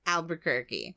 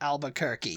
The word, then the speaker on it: Albuquerque: albu albu used to say Al ALB kerk Albuquerque Albuquerque yeah albir Al ALB quir quirky qu but